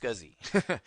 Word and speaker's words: SCSI: your high-end systems is scuzzy okay s-c-s-i it's pronounced scuzzy basically this is also